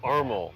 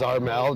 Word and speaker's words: Armel: Of course, I'm standing at this Armel. I said it right this time? Yeah. I said it wrong before when we podcasted a few weeks ago. It also doesn't help that I introduce myself half the time as Armel, just because it's easier.